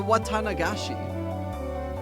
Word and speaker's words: Watanagashi: The Watanagashi. Oh, come to think of it, she did say there'd be a festival at the shrine during the next break. So, what's this Watanagashi thing about?